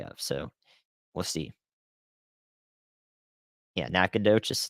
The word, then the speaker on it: Nacogdoches: on the day of so we'll see yeah Nacogdoches nakadish in Louisiana I've learned a lot but there's always learned more to learn about pronunciations where would I have positioned on last